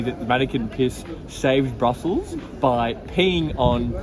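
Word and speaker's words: Manneken Pis: with this little weeing man his name is mannequin piss I show you okay apologies for the mispronunciation we realized after we filmed this that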